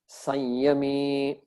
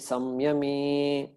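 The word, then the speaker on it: संयमी: Tasyam Jagarti Samyami. Tasyam Jagarti Sanyami. So that word Sanyami, Samyami can be pronounced either way.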